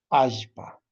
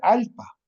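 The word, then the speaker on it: allpa: Ajpa. Así. Entonces, no le vamos a pronunciar alpa, sino ajene a ser ajo.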